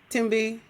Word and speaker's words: Thembi: Thembi? Yes. Yes, you did. Okay. You did. Yes. Thank you. The H, Americans, y'all don't know. The H is silent.